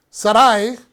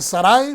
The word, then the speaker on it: Sarai: Sarai, porque todavía no se llama Sara, Sarai desespera, y quiero mencionar esto, normalmente en español decimos Sarai, pero el nombre es pronunciado correctamente Sarai, desespera en su espera